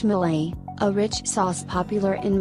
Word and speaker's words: mole: claim to be the original home of mul pronounced Malay a rich sauce popular in Mexican cooking there